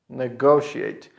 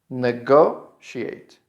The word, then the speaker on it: negotiate: Negotiate. And the final part of this verb is pronounced like she ate. She ate. Negotiate.